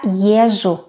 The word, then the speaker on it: езжу: Я езжу на работу. Езжу, езжу, езжу. З is almost not pronounced.